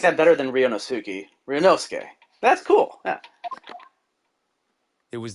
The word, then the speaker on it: Ryunosuke: all but that's what i like about you rio newskey wow i mispronounced his name for 10 cases i know but it was hard yeah you mean you know i like that better than ryonosuki ryonosuke that's cool yeah it was the evening after